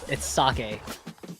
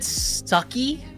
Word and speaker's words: sake: Okay, it's sake. It's sake. That's by far the one I hate the most. Yeah, because people say I've heard sucky. Yeah. I've heard. No, is it sake?